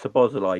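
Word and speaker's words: Szoboszlai: I think with Sabozalai, you don't say the Zs, do you? The Z is not.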